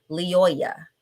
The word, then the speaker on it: Lyoya: down to make sure i spell his name phonetically correct so i would know how to say it leoya his name is patrick leoyea he's 26 years